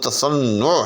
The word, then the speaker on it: تصنع: کے اوپر پیش ہے۔ درست لفظ تصنع ہے، یعنی نام کے اوپر، نون کے اوپر بھی جو ہے وہ پیش۔ تو یہ ایک